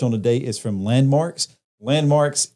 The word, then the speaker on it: Landmvrks: today is from landmarks landmarks is spelled l-a-n-d-s m-v rks kind of play you know the upside down a yeah i don't